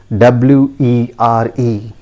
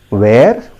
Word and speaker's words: were: do you pronounce it do we pronounce it as where yes very common but friends i tell you that is a wrong pronunciation right you can see the phonetic transcription here those who understand this phonetic transcription if you don't understand fine no issues the correct pronunciation is ver it is repeat after me it is pronounced as wer simple it is pronounced